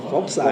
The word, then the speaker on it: VOXA: Coba deh kita tetap pengucapannya tetap Foxa Foxa, gitu ya.